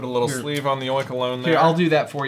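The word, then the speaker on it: Oinkologne: me that again so it's not oink cologne it's oink alone link alone I I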